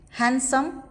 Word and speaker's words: handsome: in do sad hidden it is silent in the words like handkerchief handsome if we see elepant